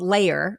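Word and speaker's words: Layr: Um, it's a company called Layer, which is spelled L A Y R because, you know, it's cool now to drop all the vowels.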